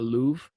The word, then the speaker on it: love: Back then, they would have pronounced that Louvre.